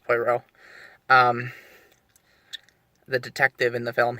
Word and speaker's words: Poirot: And the guy who played Poirot, I think it's pronounced Poirot, the detective in the film, he was pretty good.